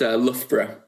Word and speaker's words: Loughborough: I think because of the ridiculous spelling and pronunciation, I think you've seen, it's got 2 different O-U-G-H parts to the word, and they're both pronounced differently, which is a nightmare for anyone who's not from the area.